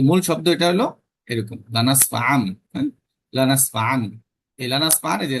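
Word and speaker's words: لنسفعا: এইযে এটা এই মূল শব্দটা এখানে দেওয়া আছে লানাসফান এখানে এটা যদিও এভাবে লেখা হইছে যে দেখেন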